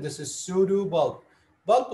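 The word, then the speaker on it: pseudobulb: sudo bulbs sudu bulp the p is silent this is sudu bulb bulp like the electric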